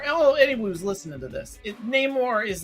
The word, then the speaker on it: Namor: They're rolling the R. Yeah, Namor.